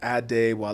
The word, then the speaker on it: Adewale: Like you can like it's Adewale.